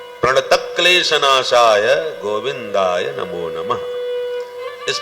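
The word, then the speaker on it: प्रणत क्लेश: कृष्णाय वासुदेवाय हरे परमात्मने प्रत क्लेश नाशय प्रत में विसर्ग नहीं है प्रत क्लेश बहुत से लोग बोलते प्रत क्लेश नाशय विसर्ग नहीं लगाना चाहिए प्रत क्लेश नाशय गोविंदाय नमो नमः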